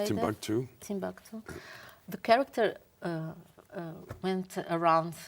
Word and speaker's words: Timbuktu: Timbuktu.